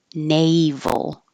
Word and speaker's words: naval: sound exactly the same Naval the vowel is a like hey and the V put your top teeth on your bottom lip like an F but with sound Na and don't round your